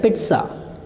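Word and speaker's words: pizza: ये इसको आप पिज़्ज़ा बोलते हैं, पिज़्ज़ा। आज तो मैं मार्केट जा रहा हूँ पिज़्ज़ा खाना, जबकि राइट होता है पिट्सा, पिट्सा, पिट्सा, पिट्सा।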